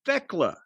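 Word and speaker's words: Thekla: It's Techla. Theckla is what her name is.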